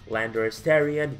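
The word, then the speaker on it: Landorus-Therian: you, in Current Black, Landorus Tarian, yes I'm saying it right this time around, Swallow, and so on.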